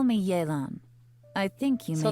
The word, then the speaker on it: Yelan: Call me Yelan. I think you may So that's need how my you help. pronounce it, And I just so Yelan.